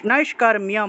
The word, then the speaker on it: নৈষ্কর্ম্যম: নৈষ্কর্মম, নৈষ্কর্মম, নৈষ্কর্ম্যম, মিয়ম উচ্চারণ হবে।